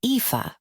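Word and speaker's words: Aoife: paparazzi they called out her name which sounded like Eva only with an F in place of the V Sheamus had quizzed me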